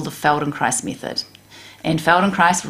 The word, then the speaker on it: Feldenkrais: the feldenkrais method and feldenkrais rhymes with nice and basically it's a